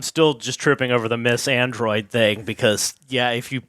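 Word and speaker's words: MYTH & ROID: and myth and Roid which is pronounced Miss Android have announced a collaboration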